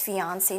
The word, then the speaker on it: fiancé: But the pronunciation is the same for male or female.